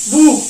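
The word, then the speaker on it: Buch: इसके अलावा हमने पढ़ा कि अगर इन 7 के अलावा कोई और अल्फाबेट सी एच से पहले लगता है, ठीक है, तो उसकी जो साउंड है वो क्या करता है, उसकी साउंड बना देता है वो खा, खा गले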